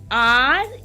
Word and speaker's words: rain: See now, this is R-A-I-N. So, it gives us sound of long vowel sound of, yes, A, long A, okay, and I is mute, silent.